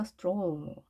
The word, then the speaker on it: stroll: 자, 스트롤 같은 경우도 O가 혼자 있기 때문에 스트랄 이렇게 읽을 수 있겠지만 자, L과 R이 모두 유성음이어서요. 자, 엄마의 소리에 영향을 줬습니다. 따라서 stroll, stroll 이렇게 좀 더 길게 발음이 됐죠.